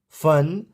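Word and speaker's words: fun: रन एस यू एन सन एफ यू एन फन तो इन words में आप देख पा रहे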